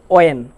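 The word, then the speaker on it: when: তাহলে এক্ষেত্রে আমরা বলবো হোয়াট না বলবো ওয়াট, হোয়েন না বলবো ওয়েন, হোয়ার না বলে বলবো ওয়ার, হুইচ না বলে বলবো উইচ, হোয়াই না বলে বলবো ওয়াই, আর হো না বলে বলবো হু।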